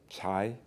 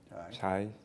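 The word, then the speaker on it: 财: there's a chinese character you can spell it as c a i and it's pronounced as chai chai chai is written differently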